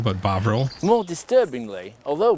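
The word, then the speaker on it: Bovril: us today boil boil Bine and I was pronouncing it boil but bavil more disturbingly although B intended the book to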